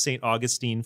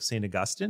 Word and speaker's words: St. Augustine: And I lived in Florida and it was St. Augustine, Florida. I'm like, St. Augustine? I'm like, no, St. Augustine.